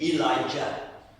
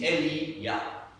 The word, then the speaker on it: Elijah: The Anglo-Saxon English pronunciation is Elijah. But the original Hebrew is Eli-Yah.